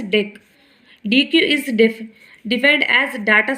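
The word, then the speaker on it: deque: It is pronounced as DEQ.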